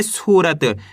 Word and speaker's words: सूरत: आपको करने के बड़े ऊ की मात्रा को खींच के पढ़ाना है। इसी तरीके से पढ़ना है सूरत। तभी जाके सही से बड़ी ऊ की मात्रा का उच्चारण होएगा।